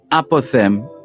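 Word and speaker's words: apothegm: persian apothem and and apothem is spelled a-p-o-t-h-e-g-m the g is obviously silent a persian apothem let's let's do that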